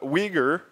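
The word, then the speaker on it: Uyghur: before yeah so what how do you pronounce it so we ger is a Muslim population in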